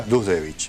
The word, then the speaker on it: Duzdevich: Aldo Dusdevich, ¿así se pronuncia? Dusdevich.